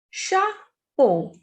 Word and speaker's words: chapeau: Next is Chapeau. Chapeau. The pronunciation of CH is sh in French. Sh. So CHA is sha, PEAU, po. Chapeau. Chapeau is hat.